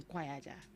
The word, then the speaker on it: Quaja: He said I should call him Quaja.